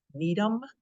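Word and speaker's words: Gnetum: the first award there Needham the g is silent Needham ephedra that might sound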